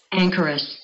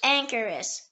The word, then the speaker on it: anchoress: The next word is anchorous. Anchorous. It can also be pronounced anchorous. Anchorous.